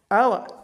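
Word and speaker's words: hour: So in a honest honor our ab in this mentioned words H is not pronounced.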